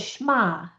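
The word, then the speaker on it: Shema: So, the word is schma. Do did you ever learn that word? It's spelled shama.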